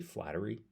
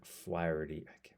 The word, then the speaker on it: Flaherty: I guess I keep wanting to say Flattery, and it's not right, obviously. Anyways, Jack Flaherty.